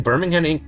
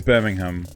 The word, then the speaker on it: Birmingham: The correct pronunciation is Birmingham, but it's everyone just goes Birmingham.